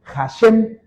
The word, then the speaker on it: Hashem: palabra la j, la H en el hebreo suena como suena como J. Por eso los judíos, por ejemplo, cuando dicen el nombre de Dios o cuando hablan de Dios, ellos dicen Hashem. La se escribe h A s h e m y es hashem.